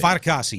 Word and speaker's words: Fatukasi: One guy that pops to mind, I'm going to say his last name wrong, but it's Foley Fatukasi, I want to say. Fatukasi, yeah.